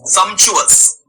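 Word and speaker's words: sumptuous: ई एस समशुस हां ये पी जो है साइलेंट है। इसमें दो ही वर्ड पढ़े जाएंगे। एक सम को पढ़ा जाएगा और एक टी यू ओ यू एस को पढ़ा जाएगा। टी यू को यहां च प्रोनाउंस करेंगे हम।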